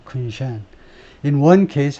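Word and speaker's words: 昆山: 행정구역상으로는 이제 다르지만은 그래서 발음은 쿤샨 두 번째 실러블의 두 번째 음절에 액센트가 있네요. 쿤샨 In one case, 한 가지 경우에는 Chinese executives bypassed US restrictions.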